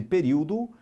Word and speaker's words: período: Por fim, voltando então, juízo extraídos e período justifica-se pela mesma regra de acentuação. Olha isso, juízo, extraídos e período. Só que período não, período é proparoxítona, né?